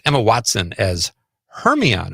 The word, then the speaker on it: Hermione: Uh, Paula Creger Conrad's mom says Emma Watson as Hermione. Am I saying that right? I didn't see that. Hermonian. Hermonian. Her. What is that word? Hermione. Hermione. Yes. Is that how you say it? Yeah.